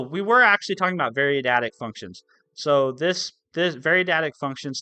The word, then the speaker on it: variadic: Variadic was the how you pronounce it.